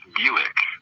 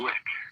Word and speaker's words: Blick: it comes up that it rhymes with quick it's not pronounced Buick the name of the car the I mean theel okay it's not a Buick it's a Blick okay yeah that's that's